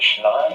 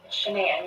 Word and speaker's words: Shanann: Are pretty good friends with, is it Shannon or Shanann? Shanann, you pronounce it like shenanigans.